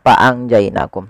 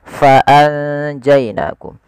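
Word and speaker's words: فأنجيناكم: Tapi sebelum itu ada huruf fa harus dibaca dengan fa pakai f jangan pakai p. Jangan faangjainakum tapi faanjainakum.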